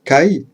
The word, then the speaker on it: 介: Quant à la partie du bas, qui se prononce kai, elle représente, entre autres, un homme en armure ou le fait de s'immiscer dans un espace.